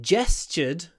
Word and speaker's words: gestured: in nearly gestured gestured interestingly in my pronunciation the first sound in this word the J Jess and the TU is also a j gestured gested not gestured interestingly why do I